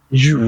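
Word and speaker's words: ewe: The female is u. Okay. E we e. But it's pronounced U.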